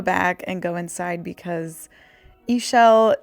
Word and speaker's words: Ishell: And I decided to go back and go inside because Ishell is my name. It rhymes with seashell.